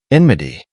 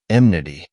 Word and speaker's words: enmity: correct deia not diptheria enmity I was well into my 20s before I realized that this word was neither pronounced nor spelled emnity fuchsia commonly misspelled fuchsia